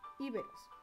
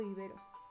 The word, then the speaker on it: íberos: Tartesios desarrollaron una cultura más elevada que la de los íberos. Íberos o iberos. Depende de cómo lo querramos pronunciar.